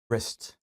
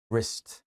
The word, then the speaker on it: wrist: 손목은요, wrist. 이게 스펠링하고 발음이 뭐 좀 기억해야 할 만한 쉽지 않은 녀석입니다. W로 시작을 하고요. WR 이렇게 되는데 발음은 R 사운드를 잘 만드셔야 됩니다. wrist.